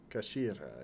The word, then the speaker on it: Kashira: It's written as head in Japanese, but it's pronounced as kashira. Kashira, I believe.